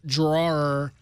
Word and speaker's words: drawer: I understand that the app drawer is spelled DRAWER. I happen to be from Long Island, and we say draw.